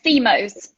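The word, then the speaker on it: Xémose: How do you pronounce that, Daniela? Which one is it? Zemos.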